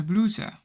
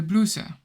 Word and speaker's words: blouses: And in plural, it's de blouse. De blouse. And as you can see, the plural form ends on the letter S, but you don't pronounce it. You say de blouse.